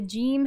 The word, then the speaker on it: ج: of these ways and the way the gene is pronounced in the quran is more similar to our english j so let's look at